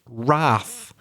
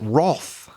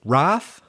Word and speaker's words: wrath: bit tricky as well you probably would wouldn't guess that the first letter is W so it's w r